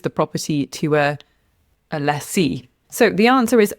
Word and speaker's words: lessee: lessee and lessor, but that's not the correct pronunciation. Uh we have lessee and we have lessor.